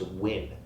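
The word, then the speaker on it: Nguyen: classes who told me that NG yeen is pronounced win oh cool so there you go so whoever told me it was pronounced win and I when somebody told me that they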